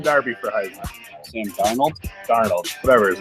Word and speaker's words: Darnold: I said Sam Darby. Sam Darby for Heisman. Sam Darnold? Darnold, whatever his name is.